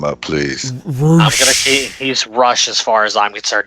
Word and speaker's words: Rush: If it's Roosh, spell it R-O-O-S-H. Thank you. Or even R-O-U-S-H. Give me Roush. something. Don't spell it Rush and tell me that it's going to be freaking different.